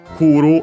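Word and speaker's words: 来る: Uh for example uh first and foremost yeah uh here we have kuru the other verb of movement the one is iiku iu means to go unacented kuru accented means to come unfortunately completely regular so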